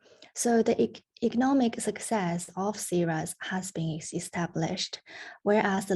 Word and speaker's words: CZhang: So please do remember this pronunciation CZhang because you will hear it very frequently in this research.